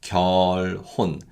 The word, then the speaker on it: 결혼: And then we have the word for marriage, and that's 결혼. So when it's said in natural speed, it's 결혼. That 리을 받침 carries over.